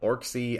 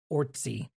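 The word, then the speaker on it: Orczy: I I believe it's I believe it is just like Ortsy Ortsy.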